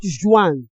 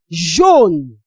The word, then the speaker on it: jaune: It's not Joan. This is jaune. Jaune. That is yellow.